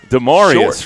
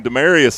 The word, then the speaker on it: Dearius: pass to be uh dearius right dearius that's right we apologize to him we've been saying his name demarius all year it's dearius he